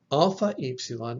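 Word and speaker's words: αυ: a voiced consonant if it comes before a voiceless consonant it will be pronounced like off like in the word pilaf so alpha ipsilan will be either of or off epsilon epsilon will be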